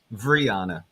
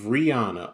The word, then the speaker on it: Rihanna: guys by the stream there you go Brianna of Rihanna okay sorry that's how you say it yeah